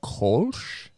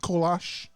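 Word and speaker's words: Kölsch: It is a and I hope I pronounce this correctly, Kulch. Yep. Or or you can Americanize it with Kash.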